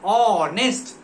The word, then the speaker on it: honest: Honest में उसका pronunciation honest ओ से हो रहा है और ओ जो है वो किस में है?